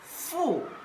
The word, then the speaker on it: 负: And the pronunciation is fu.